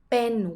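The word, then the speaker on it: เป็น: this you use the word pen pen with strong P okay so you pronounce more like BP backbend right very good in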